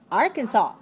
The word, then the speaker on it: Arkansas: How about Arkansas? 3 syllables. Stress the first.